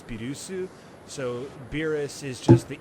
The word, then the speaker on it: Beerus: Beerus. I'm still refusing to actually call him that. I'm calling him by his actual Japanese name, Bills. Why Beerus? That I don't, because the proper Japanese pronunciation is Birusu, so Beerus is just